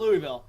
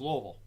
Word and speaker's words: Louisville: Louisville oh wait no we can't call it Louisville it's lovel lovel lovel whoo you have to pronounce it with this little a little vowels